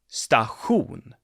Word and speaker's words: station: s's and an eye station in swedish is also one of those sounds that have gotten the sound stahoon spelled then with t i all right this is